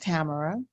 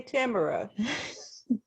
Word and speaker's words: Tamara: here with family that my name is actually pronounced Tamara okay Tamara and I'm GNA sing